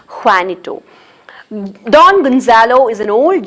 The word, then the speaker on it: Juanito: Gonzalo enters, and he has got an assistant, and his name is Juanito. J is silent there. It has to be pronounced as Juanito.